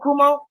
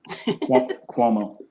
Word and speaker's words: Cuomo: Is that how you pronounce his name, Cuomo? Of New York? Brandon? Cuomo.